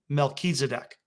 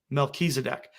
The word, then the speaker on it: Melchizedek: And this final little point here, with Jupiter being called Tzedek and Regulus being called Melech, if you put the two of them together, that would be pronounced Melchizedek. Melchizedek.